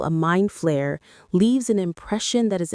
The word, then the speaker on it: Flayer: The first interesting fact is that its name is not player but flare. Because the pronunciations are similar, Korean fans confused the two for many years. But the correct name is Flare with an F, not a P.